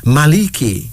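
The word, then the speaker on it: Malek: Here's another one, Maliki. Maliki. M-A-L-I-K-I, pronounced as Maliki.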